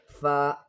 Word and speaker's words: ف: Then f F is pronounced by touching the lower lip to the upper teeth.